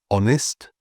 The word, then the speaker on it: honest: So if a word feels fancy or French, the H might just be not said. So some examples of this would be honest, hour, honor, air, and of course ghost.